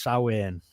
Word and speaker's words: Samhain: and it's called it's spelt Samhain, but it's pronounced Samhain.